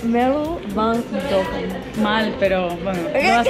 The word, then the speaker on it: Merel van Dongen: Y ahí decimos Mero van Dongen. Mero van Dongen. Mero van Dongen.